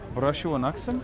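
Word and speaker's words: Barasho wanaagsan: Barashuwanaksan?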